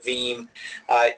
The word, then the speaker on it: Veeam: say it in its theme and it rhymes with team the name does not